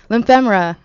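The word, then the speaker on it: Liphemra: check out ly lyema I keep saying her name wrong she's going to kill me lyema that's how you say it and to find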